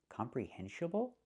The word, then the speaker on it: comprehensible: The word is not pronounced comprehensible input. It's not pronounced comprehensible input. Comprehensible? It should be comprehensible.